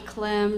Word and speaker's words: Clem: for the Maryland State Department of Education Clen rhymes with it just happened that way I want